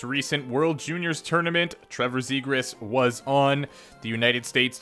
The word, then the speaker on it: Zegras: i've actually heard this fellow's name pronounced two different ways i've heard trevor zegra and trevor z griss siegraw came when they drafted him but i've heard zigris at the world juniors and it's also on elite prospects so i'm gonna go with that one trevor was drafted ninth